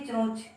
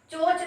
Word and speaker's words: चोंच: आपका चोंच जो है, चोंच तो बोलेंगे नहीं आप बोलेंगे चोंच। तो यहाँ पे आपका उच्चारण कहाँ से हो रहा है, नाक से हो रहा है ना, आपका